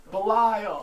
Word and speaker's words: Belial: point Belial 17:25 Ohio he said it right Belial I've heard of a place no it's very